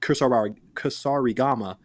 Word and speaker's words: Kusarigama: It's actually the Kusarigama, but we call it the Kuri for short. Kurasari. Yeah, we call it. You have to say it like a Japanese dude.